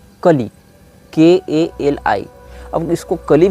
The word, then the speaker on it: Kali: नहीं किया गया है, लेकिन इसको जो प्रोनाउंस यहाँ लिखा गया वहाँ KAH-LEE लिखा गया है, मतलब कली में तो ह्रस्व ही होता है। ये लिखा है काली, और काली के बगल